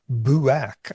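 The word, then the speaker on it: Boirac: Deja vu, first discussed by a 19th century French philosopher named Émile Bouac, I believe is how it's pronounced, and people beginning to note it as a very special category.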